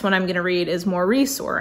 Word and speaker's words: Maurice: The next one I'm gonna read is Maurice, or I heard someone say it's supposed to be pronounced Morris, which I just can't wrap my head around.